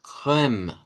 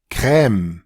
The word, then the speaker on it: crème: Y noten que en las dos, tanto en esta crème, como en esta, crème, no se estaría pronunciando la E del final con el sonido de shba.